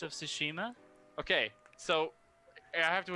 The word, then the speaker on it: Tsushima: thing I can't pronounce two shima su she knows you know like tsunami right I just sooo not okay Tsushima yes okay I actually just the